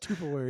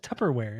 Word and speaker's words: Tupperware: going to tear that why you saying tuperware what do you me how do you say how you you say it it's just Tupperware it's there's two ke's in there you didn't say that